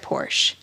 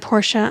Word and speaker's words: Porsche: jeffrey has bought a red porsche porsche is it porsha yeah are we gonna do that i'm just telling you okay that people at home are gonna be like it's porsche porsha and she's saying it wrong okay i'm sorry i'm